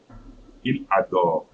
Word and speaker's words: il adore: Il adore. Il adore. I'm not pronouncing E.